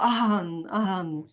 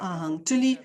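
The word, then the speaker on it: 阿含: W języku chińskim wymawia się to jako ahan, a nie agama, tylko ahan.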